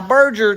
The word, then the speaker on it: Berger: Now, Berger, just so y'all know, is spelled burger. It's basically burger, but it's pronounced Berger. So anybody in the comment section that wants to type out Berger, it's burger, like hamburger.